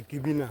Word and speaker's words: Ekemina: Supposed to be Ekemina. Ekemina, supposed to be Ekemina. Okay. It was Ekemina. So it was the Germans that couldn't pronounce the local name. Then they've changed it now to Gemi.